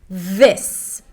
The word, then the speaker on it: this: This. A voice TH, an I sound, and an S.